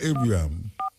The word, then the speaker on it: Ibrahim: Pronounce the name for me, because if it's true, so just say Ibrahim, man.